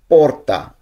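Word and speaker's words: porta: তারপরে দরজা, পোর্তা।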